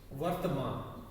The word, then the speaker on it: वर्तमान: पहला है वर्तमान काल, वर्तमान, पहले र का उच्चारण होता है वर्तमान काल।